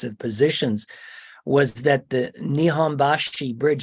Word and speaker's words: Nihonbashi: positions, was that the Nihonbashi Bridge, I'm not probably pronouncing it correctly from a Japanese perspective. Nihonbashi, your pronunciation of Nihonbashi is very correct, clear.